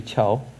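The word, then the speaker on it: CAAOIAO: So now we should maybe chow. C-A-A-O-I-A-O, if we pronounce chow, then there will be a very good meaning in Chinese. Chow means a bridge.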